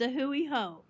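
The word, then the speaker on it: A hui hou: but is it away how it's closed it's a Hui ho a Hui ho okay and what is a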